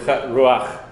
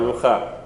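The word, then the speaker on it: רוח: To make sure that you're putting it where it belongs, ruach, not rucha.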